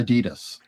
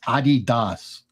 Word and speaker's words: Adidas: Apparently, it's Adidas or something. What? Yeah, that it's the Das brothers, Adi Das, or so.